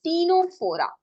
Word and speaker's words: Ctenophora: Then phylum Ctenophora. Again, C is silent.